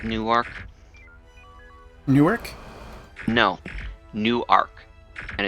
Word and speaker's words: Newark: called Newark Newark no new arc and it's it's pronounced that way spelled the same way but it's not pronounced the same way you guys see the